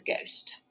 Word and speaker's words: ghost: so far um but when we have GH at the beginning of a word it makes the G sound so the H is silent so here is GH